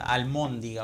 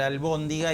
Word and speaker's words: albóndiga: demasiado ya, almóndiga, o sea, no podemos pronunciar albóndiga y decimos almóndiga, y como el uso es el amo, termina por imponerse, ¿no?